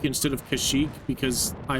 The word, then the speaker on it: Kashyyyk: Chewbacca is from kashik either and yeah I pronounce it kashik instead of kashik because I like that pronunciation better and it's